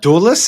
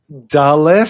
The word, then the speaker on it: Dulles: Doulus and Rean. No, and Rean came up like D. Talking about Dulles.